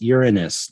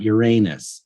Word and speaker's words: Uranus: g also stop snickering the planet is pronounced uranus not uranus yeah yeah it's just